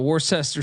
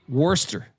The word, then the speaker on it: Worcester: I think it's Worcester Malcolm from England really got mad at me when I Mis mispronounced that earlier this year Worster Worster state is taking on the